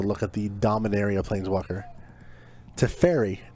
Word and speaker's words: Teferi: Teferi, not pronounced Teferi. Teferi? Teferi.